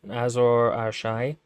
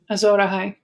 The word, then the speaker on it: Azor Ahai: She thinks Stannis is like the prophet Azor Ahai, or what is it? How is it pronounced? Azor Ahai.